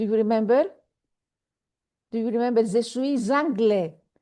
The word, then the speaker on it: je suis anglais: Je suis anglais. I didn't say je suis anglais. because it's a silent final consonant, je suis, the S at the end, and the next word begins with a vowel.